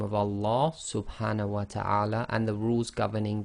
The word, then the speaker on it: Allah: and a fata so always remember the Lamb of Allah is always two lengths long so in conclusion we now know how to correctly pronounce the name of Allah subhah and the rules